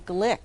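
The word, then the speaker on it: Glück: the name of louise she pronounces her last name glick although it's spelled g-l-u-c-k with the umlaugh over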